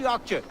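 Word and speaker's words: akçe: 180 aksha. We part as Also, it friends. looks like it totally is pronounced like Axie.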